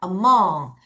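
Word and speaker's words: among: 다시 발음하면 어몽 얘도 한국어로 사이에고 얘도 한국어로 사이인데 그 차이가 좀 있습니다.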